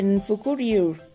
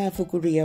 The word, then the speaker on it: ฟุคุริว: เรื่อย ๆ นะ คะ หรือ เป็น ฟุคุริว ที่ คน ไทย มัก จะ ออก เสียง ว่า กู เรียว นะ คะ ที่ เป็น